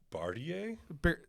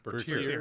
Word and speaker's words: Bertier: Jerry Bartier? No, Bertier? Bertier. Bertier.